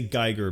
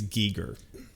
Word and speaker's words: Giger: I know a lot of people say Geiger, but I'm pretty sure technically it's Giger.